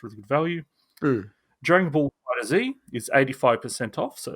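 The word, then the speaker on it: FighterZ: Dragon Ball Fighter Z is 85% off, so it's a huge discount. Isn't it pronounced fighters?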